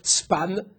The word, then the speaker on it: span: souvent dans la littérature, c'est ça se prononce span.